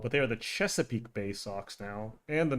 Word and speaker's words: Chesapeake: Oh, it's funny because when I was a kid, uh, I didn't know how to pronounce Chesapeake and I thought it said cheapkate, so I just called it cheapkate bay.